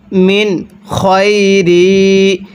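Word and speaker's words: من خير: ওয়ামা এরপরে মিন খই কিভাবে পড়ব মিন খই এইযে এই জায়গার মধ্যে আমরা এই নুন সাকিনটাকে স্পষ্ট করে পড়ব কারণ এই নুন সাকিনের পরে খটি হল ইজহারে হরফ আর স্মরণ রাখবেন নুন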